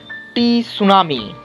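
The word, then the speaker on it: tsunami: উত্তর হচ্ছে deep ocean assessment and reporting of সুনামি। টি উচ্চারণ করবে না, সবাই সুনামি বলবে।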